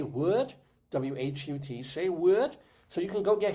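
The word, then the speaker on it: Say Whut: Yeah, well, it's say what, but it's spelled W-H-U-T.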